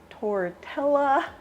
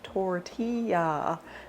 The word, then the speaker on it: tortilla: Today I'm going to be making chicken tortilla soup. Yes, I know that's not how you pronounce it.